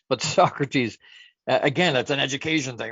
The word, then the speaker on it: Socrates: Socrates, as soon as I see that, I think of Bill and Ted's Excellent Adventure, and they called him Socrates because that's how it's spelled. But Socrates, again, that's an education thing, right?